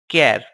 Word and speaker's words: char: Character, which is denoted by char and pronounced as char.